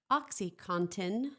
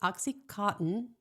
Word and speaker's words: OxyContin: And in 1996, the Sackler family's pharmaceutical company named Purdue Pharma launched OxyContin, not OxyCotton. Contin. There's no cotton in it.